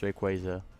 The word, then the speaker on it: Rayquaza: Okay, it's Rayquaza.